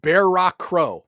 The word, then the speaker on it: Ba'artuk Kaor: Ba'artuk Kaor. Pronounced Bear Rock Crow.